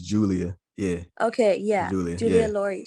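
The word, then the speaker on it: Giulia: really pronounce her name but it's spelled g-i-u-l-i-a yeah it might be julia i i think it's as it's julia yeah okay yeah julia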